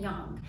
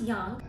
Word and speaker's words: yang: So the first component of Chinese medicine that I wanted to talk about was yin and yang. And yes, it is pronounced yang. Not yang.